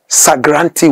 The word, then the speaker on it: Sagranti: The Asantes could not pronounce Sir Garnet Wolseley. So they simply said Sagranti.